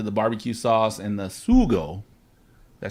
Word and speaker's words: sugo: You again, we'll talk about your team, Why Not Barbecue, but that leads into the barbecue sauce and the sugo.